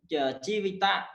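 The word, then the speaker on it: ជីវិត: For example, jivita. Jivita. If we go through in the text in my language, Jivita, Janaka, that is also father, this word only pronounce 2 syllables. Jivita, that's pronounced Jivit, and Janaka, that's pronounced Jano.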